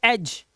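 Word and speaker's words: edge: D silent है इसलिए। इसे पढ़ेंगे एज, इसे पढ़ेंगे हैज, इसे पढ़ेंगे वेज।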